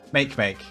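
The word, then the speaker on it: Makemake: that it is make make is it actually pronounced make make now it is how much can cope and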